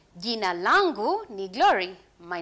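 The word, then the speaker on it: jina: ask me what is your name they'll say gina lako nani sometimes we use j which is at the beginning if you don't want to make that sounds because israeli pronunciation are not difficult so we say yina lako nani what is your name gina lakko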